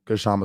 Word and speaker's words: Kshama: Um, oh, someone said the K in Kshama is silent. Okay, so Kshama Sawant.